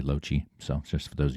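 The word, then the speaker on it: Loche: That's how you pronounce my name, by the way, Loeche.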